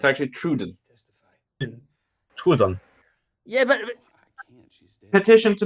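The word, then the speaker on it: Troodon: It's actually Truden.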